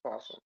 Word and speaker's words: opossum: It's just pronounced possum.